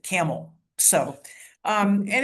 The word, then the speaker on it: Campbell: Um, just east of Youngstown is a a city and it's called it's pronounced Camel. It is spelled like the Campbell soup can. Campbell, but the people there actually pronounce it Camel.